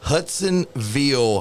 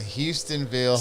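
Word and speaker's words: Hustonville: for you guys dude it's called the Hudsonville haunted saying it wrong the houstonville haunted house I say it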